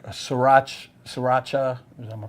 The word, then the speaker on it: Sriracha: And then you put uh like Srirach Sriracha. Am I pronouncing it correctly?